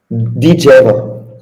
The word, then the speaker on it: Djeva: Djeva, como me disse um amigo meu polaco, um ex-atleta meu, que eu fiz questão de lhe perguntar como é que se pronunciava este nome, e ele fez o favor de partilhar. Então já sabemos dizer Alexander Djeva.